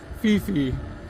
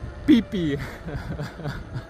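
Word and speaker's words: Phi Phi: or Satan, but it's pronounced Satun. And then the other places like uh where we would read it as Fifi, it's actually pee pee.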